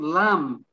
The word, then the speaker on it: lamb: um the next one lamb silent b lam lim silent b numb